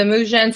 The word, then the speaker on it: Mujen: give us the the Mujan story and how it came to be. Am I saying it correctly? Can you say Yeah, you're you're saying it exactly correctly. Yeah. Men with a J.